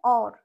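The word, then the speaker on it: और: বলি না যভিহ এই যে জো নেক্সট আরেকটা উচ্চারণ হচ্ছে অ মানে ঔকার র ওকার র ঔর হবে না কি হবে অর অর কে হে অর কে চাহিয়ে এই যে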